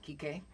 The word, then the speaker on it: Kike: Does he pronounce his name Kike? Right, like Enrique.